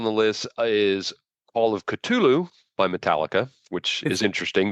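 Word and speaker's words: Ktulu: next song on the list is all of culu by Metallica which is interesting that's the actual pronunciation is culu and not cthulu uh it's the eighth and final track for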